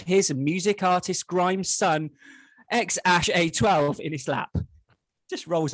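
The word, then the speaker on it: X Æ A-Xii: Wow, is that the correct pronunciation then? I did. I looked it up. Yeah. So apparently it's X A-Xii.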